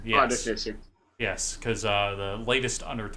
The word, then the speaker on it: Artificer: Artificer? Yes. Artificer.